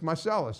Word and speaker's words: Marselles: Mar is that how you say it it's marcelis marcelis okay I would because it sound looks it looks French on in in the in the syntax and I but it's marcelis I get that all all the time yes